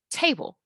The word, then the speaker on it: table: answer key for this, the first syllable is stressed, te, te. It stretches out your mouth when you say it, te. The bold part, even just looking at it, you have that many letters fused together just for a single sound. It sounds almost like it's cut off, table, right? It's cut at the end, table. So te is long. It's a stressed syllable.